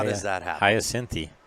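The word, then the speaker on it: Hyacinthe: how does that happen Hayti Hayti that's that's the proper way that's how it's spelled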